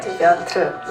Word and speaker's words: Piotr: That just reminds me, you guys do that kind of like Piotr, right? Piotr. You kind of skip the vowel a little bit.